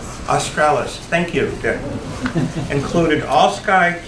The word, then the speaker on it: australis: Some of the scientific equipment used to study the auroral astralis for Australia included, what's the right pronunciation? Australis, thank you, Dick.